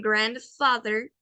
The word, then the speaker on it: grandfather: Y de igual forma, con grandfather, recordemos que la T y la H se pronuncian the, grandfather, grandfather.